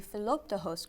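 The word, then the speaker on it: Philoptochos: you said and one of those is the Philip to host group can you tell us what they do first of all very good pronunciation flup toss a good Greek word or it's mostly a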